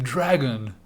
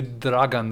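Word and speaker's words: Dragan: us to call him dragon dragon like with wings and then spits fire but he's actually dragon in serbian d-r-a-g-a-n so one letter away but because americans don't pronounce names they were like dragon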